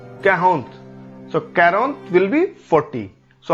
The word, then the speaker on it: quarante: 40 या 40 का उच्चारण हम करते हैं कैरोंत, कैरोंत। Sometime we also pronounce it एज कैहोंत, कैहोंत। So quarante will be 40.